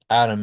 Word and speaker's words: atom: So if you look at the word atom, atom is very usually pronounced with a flap, right? It sounds just like the name atom that's spelled with a D.